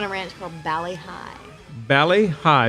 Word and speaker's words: Bali Hai: ranch from Bali Hai Bali Hai be a li as in Bali but pronounce Bali hii Bali Hai har paradise